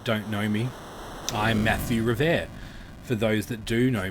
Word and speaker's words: Revert: For those that don't know me, I'm Matthew Revert. For those that do know me, you probably didn't know that's how you said my surname. Matthew Revert. Think Stephen Colbert.